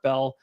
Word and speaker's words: Beal: It's actually pronounced Bell. There's an A in it.